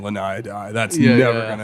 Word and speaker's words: Laniidae: while they're there, and it's called a Laniidae or a Laniidae or however the hell you want to pronounce it. Laniidae is like the It's- official pronunciation, but Yeah.